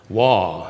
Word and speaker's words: Waugh: British writer Evelyn, and it's not Evelyn, Waugh, and Waugh is spelled W-A-U-G-H, like our old science building.